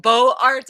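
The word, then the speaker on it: Beaux-Arts: know ecco excuse you it's like bo arts is how you would pronounce it normally but because it's run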